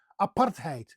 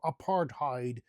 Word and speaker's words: apartheid: the English language and it is apartheid, as we say, or apartheid, as most people pronounce it here in the United States.